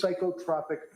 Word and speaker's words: psychotropic: What is psychotropic medication with adverse reaction? What does that mean? It's pronounced psychotropic.